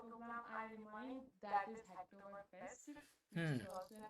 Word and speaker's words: Hacktoberfest: you were talking about the Acto Is it Octoberfest or something? I don't even know how to pronounce it. Yeah, Hacktoberfest.